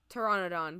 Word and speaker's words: Pteranodon: that oh the the Pteranodon because the p is silent and pterodactyl so I'm just smart